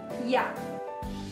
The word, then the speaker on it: я: first word is I it's very easy to pronounce it sounds like yeah let's forbid it together